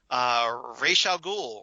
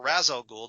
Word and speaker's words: Ra's al Ghul: here that we have, Ra's al Ghul or Ra's al Ghul, depending on how you pronounce it. It's been pronounced both ways on various TV shows and movies, so take your pick, really.